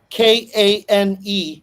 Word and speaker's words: Kane: Is it Kain or Kne? Spell it for me. K, the first name. So it's Kane, Kane Alvarado.